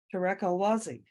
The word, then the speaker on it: Tarek El Wazzi: Next up on our agenda is our very first speaker, Tarek El Wazzi. And I'm hoping I pronounced your name right.